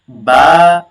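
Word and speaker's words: باء: আলিফ বা তা আলিফ বা তা বা উচ্চারণ হবে দুই ঠোঁট মিলিয়ে বা উচ্চারণ হবে দুই ঠোঁট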